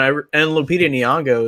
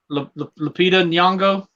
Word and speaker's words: Lupita Nyong'o: I want to see that one as well, and Lupita Nyong'o is in it, so that's pretty cool.